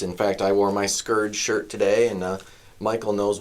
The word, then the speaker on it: SCOURGE: In fact, I wore my SCOURGE shirt today, and Michael knows what SCOURGE is.